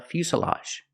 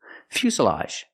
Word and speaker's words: fuselage: airplane it's called a fuselage pronunciation make the u sound U Fu Fus Fus the S is a true S Plus the short sound uh Fus fuselage this is a fuselage